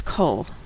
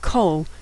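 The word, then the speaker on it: kol: Now usually a comet makes an a sound but in the word cole it makes an o sound.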